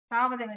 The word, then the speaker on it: तावदेव: Tavadeva. You don't pronounce the akara and then you continuously say it. Tavadeva.